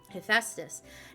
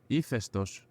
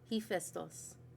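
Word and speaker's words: Hephaestus: Ephestos. Ephestos. It's actually not even an H sound.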